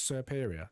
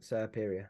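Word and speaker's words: Serperior: That's it, and it's Serperia. It's the serpent, but Peria. Like Serperia. Serperia.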